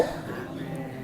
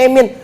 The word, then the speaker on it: amin: itu kalau ada khatib ngomong ada imam salah itu kok bacanya emin bapak belum ngaji di Alhidayah ngaji dong malam Senin begitu ya understand Bu J ini kitab Zabur Taurat Injil Al-Qur'an jadi bacanya amin begitu ya amin maka